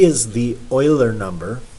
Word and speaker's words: Euler: E is the Euler number. Some people pronounce it Euler. Could be Euler or Euler.